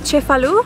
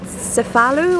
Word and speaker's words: Cefalù: going down the coast to chip a loo I guess if you were to pronounce it in English you'd call it cephalo or something like that it's 36 nautical miles